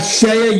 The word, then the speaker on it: CEIA: And we have Shea USA. Now, guys, mind you, Shea USA is spelled CEIA.